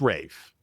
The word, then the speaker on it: Ralph: It's Ralph Fines though. Is Is there a Rafe Fines and a Ralph Fines? Are they brothers or am I just pronouncing it wrong? It's Rafe.